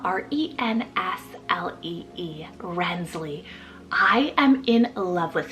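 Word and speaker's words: Renslee: just added actually this morning is the name rensley spelled r-e-n-s-l-e-e rensley I am in love with this spelling guys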